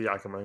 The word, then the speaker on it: Yakima: Yakima, is that how you say it? You're right. Yeah, and I remember the Yakima.